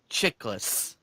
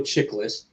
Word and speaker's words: Chiklis: Michael Chiklis. Yeah, Michael Chiklis.